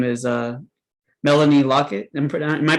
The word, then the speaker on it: Lockert: to welcome her her name is uh melanie lockett and am i pronouncing your last name right melanie lockert lockert it's an r yeah just like phonetic locker